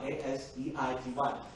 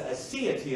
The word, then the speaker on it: Aseity: It's spelled A-S-E-I-T-Y, A-S-E-I-T-Y. It's the Aseity of God.